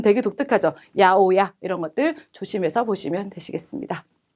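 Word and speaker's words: 八百屋: 특히 야채가 읽을 때 우리랑 전혀 800옥이라고 적고 발음 되게 독특하죠. 야오야 이런 것들 조심해서 보시면 되시겠습니다.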